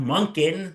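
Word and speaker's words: Monken: And um uh other news, um the Cleveland Browns have hired Todd Monin. That's how you say his name. Todd Monkin.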